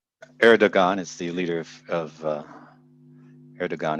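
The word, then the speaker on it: Erdoğan: Erdogan is the leader of Erdogan is how you pronounce his name, AJ.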